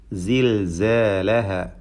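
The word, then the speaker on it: زِلْزَالَهَا: സിൽസാലഹ, ഇതിൽ സായിൻ്റെ ഉച്ചാരണമാണ് പ്രത്യേകം പരിശീലിക്കുവാനുള്ളത്. കൃത്യമായ മഖ്റജിൽ നിന്ന് ഉച്ചരിക്കേണ്ട ഹർഫ് സ, അതിന് സഫീർ എന്ന ഒരു വിശേഷണമുണ്ട് എന്നതും ശ്രദ്ധിക്കുക. സിൽസാലഹ എന്ന അലിഫ് അധികം ദീർഘം നൽകാൻ പാടില്ല.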